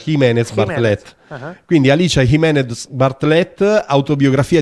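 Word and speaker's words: Jiménez Bartlett: in cui vuoi pronunciarlo perché poi lei è spagnola francese e quindi è scritto Gimenez bartlet si dovrebbe pronunciare Jimenez bartlett quindi alicea Jimenez bartlett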